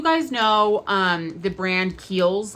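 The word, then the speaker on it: Kiehl's: kid do you guys know um the brand keels like it's k h e i l apostrophe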